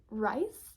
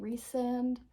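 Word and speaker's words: Rhysand: an idiot and was calling Reese rice rice sand rysen or something like that the whole time the whole time and I even looked up name pronunciations um before I started reading it and uh I just still didn't remember that his name was pronounced reand and like why would his name be rice like the food I mean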